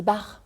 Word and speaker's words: Baert: Bonjour Éric Barre. Bonjour Dominique. On dit Barre. Oui. Ça s'écrit B-A-E-R-T. Oui, tout à fait. Mais c'est à la Dunkerquoise.